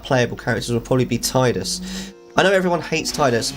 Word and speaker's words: Tidus: voice is American and pronounces it Tidus, which is so wrong. It's not Tidus, it's Tidus.